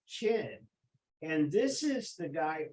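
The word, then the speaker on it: Qin: way that we spell this but it's still pronounced chin and this is the guy for whom this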